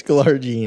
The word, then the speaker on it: glargine: Is it glargine or glargine? Is this Tyler Andrews mispronounces? It's glargine. Okay.